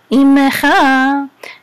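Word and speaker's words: עמך: sound in the letter, we're gonna sound the shiva, even if it's in the middle of the word. Usually in the middle of the word, the shiva is silent. So ime, and this is a chaf with a, again, this is the cha, right? Your imecha.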